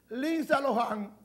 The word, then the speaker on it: Lindsay Lohan: Así es que se pronuncia. Lindsay Lohan.